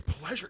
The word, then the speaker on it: Plaisier: Yes, we were, and that is 100% how it's pronounced. People think I'm lying, but it's been like that for a very long time. It got Americanized from the French, so it's Plaisier.